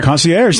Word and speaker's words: concierge: Concierge.